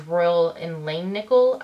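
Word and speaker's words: Royal & Langnickel: that they're from is Royal and Lane nickel I think is the correct way to say it but I got these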